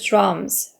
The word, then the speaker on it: drum: and 민수 plays the drums 라고 하면 되죠. 여기 dr은 발음이 주루 발음이에요. drum이라고 읽어주면 돼요.